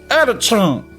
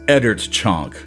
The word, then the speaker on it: Oeddertchonk: Eddert Chunk. See, but I still don't think that's right. You still have a tendency to say chunk, and it is chonk.